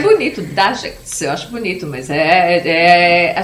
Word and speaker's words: Dajcs: A pronúncia correta? Dagex. Dagex.